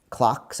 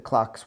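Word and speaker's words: CIOKS: that they're from norway clocks i think it's pronounced clocks i think they have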